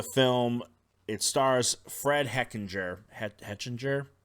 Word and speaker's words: Hechinger: Hechinger, I believe is how you say his name.